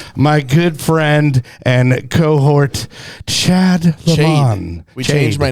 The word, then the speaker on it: Chad: good friend and cohort Chad Le we changed my name it's not Chade it's Chad it's Chad Chad right yeah my name going